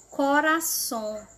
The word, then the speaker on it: corazón: pronúncia é a mesma o z tem som de s corazón tu corazón decoração açúcar